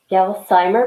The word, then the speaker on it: Gelsheimer: So this is Lorie Gelsheimer. Am I pronouncing that correctly? Gelsheimer, but that's close enough.